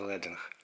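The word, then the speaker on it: leading: той що налаштовується оттут До речі англійською це читається лединг від англійського слова LED що означає свинець в минулому при друкуванні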